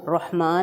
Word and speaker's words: الرحمن: گے۔ ایک بار پھر دیکھیں، را ہیں دو، رحمان میں اور رحیم میں، دونوں کو بولڈ پڑھا